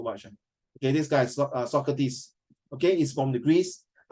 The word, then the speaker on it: Socrates: So how you pronounce the word Socrates, not Socrates, It's Socrates. It's one of the most famous philosopher, thinker, which is all time.